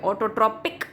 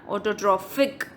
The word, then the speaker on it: autotrophic: तो PH जहाँ पे भी होता है ना उसको F प्रोनाउंस करते हैं, ऑटोट्रॉपिक मत बोलना, ऑटोट्रॉफिक।